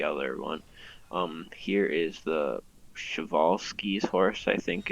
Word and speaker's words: Przewalski: Here is the Przewalski's horse, I think it's pronounced, or Przewalski.